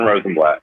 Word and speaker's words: Rosenblatt: Is that the correct pronunciation? Rosenblatt? Yeah, Rosenblatt.